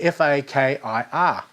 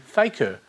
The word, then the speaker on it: fakir: It's called The Extraordinary Journey of the F-A-K-I-R. F-A-A-K-R. I said fakir, I said faker, or you can say fikir. But I don't care how you say it.